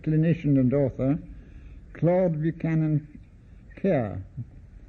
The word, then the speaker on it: Kerr: and author, Claude Buchanan Kerr, spelt with one R, and often for some reason pronounced Carl.